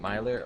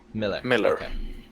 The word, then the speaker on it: Miller: yes smiling or Miller how do you say your name is it Miler or Miller Miller all right cool hold